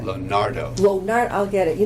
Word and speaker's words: Lonardo: Did I say that right? No, how do you say that? Lonardo.